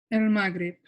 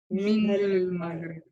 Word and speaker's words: المغرب: Muntiju, Al-Musalsali, Min, El Maghrib. Bravo, بس what is nog beter is من المغرب. Min al-Maghrib.